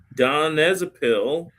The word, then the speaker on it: donepezil: So, the Aricept is a brand name for don don donepezil. Donepezil is how you say donepezil.